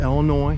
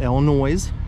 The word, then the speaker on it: Illinois: and it is pronounced Illinois not Illinois even though there's an s on the end little trivia for you